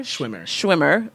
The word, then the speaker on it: Schwimmer: All right, so did I pronounce his name right when I said to you? David Schwimmer? Schwimmer.